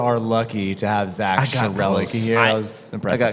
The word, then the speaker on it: Schroerlucke: And is that a correct pronunciation of your last name? It is Schroerlucke, but I was really admiring the joke of we are sure are lucky to have Zak Schroerlucke here.